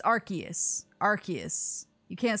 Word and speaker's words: Arceus: how to say it because apparently it's our arseis no it's arceus arceus you can't say